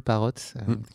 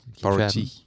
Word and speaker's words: Parotti: Là, tu viens de passer quelques nuits chez un certain Parrott. Parotti. Parotti, pardon. Ok. Je le prononce à la française.